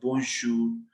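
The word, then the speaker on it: bonjour: अब देखो ओ एन की साउंड क्या है, ओ ओ, सो इट इज बों बों जूर जूर, जे ओ यू are means शूर, क्योंकि यहाँ पे भी ओजू है, ओजू मीन्स ऊ, तो लास्ट हमने आर प्रोनाउंस करना है, इट इज बोंशूर बोंशूर बोंशूर।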